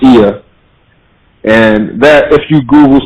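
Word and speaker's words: Oia: We stayed in the village of Ia, spelled O-I-A, but it's pronounced Ia.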